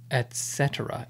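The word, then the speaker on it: et cetera: book or written etc but it's etcetera etcetera it's actually like two words or latin etc etc et space c-e-t e-r-a right and the abbreviation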